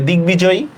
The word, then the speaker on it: দিগ্বিজয়ী: তাহলে দিগ্বিজয়ী শব্দের উচ্চারণটা কি হবে, দিগ্বিজয়ী, দশকা দি গ হসন্ত, দশকা বি জ অন্তস্তীয়, সরি হ্যাঁ বিজয়ী, শেষ, দিগ্বিজয়ী।